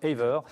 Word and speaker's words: Aver: Vous prononcez comme ça d'ailleurs? C'est ça. Aver, tout simplement.